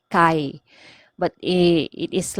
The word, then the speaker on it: kaayo: Okay, an example of that one is kapoy kaiko. Okay, kapoy kaiko. Okay, so it is basically kapoy kaayo ko. Okay, sometimes you might encounter this one. The kaayo is pronounced as kai.